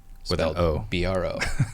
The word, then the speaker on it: Brault: they can find me on instagram at bro cause everyone would pronounce it wrong if i spelled it the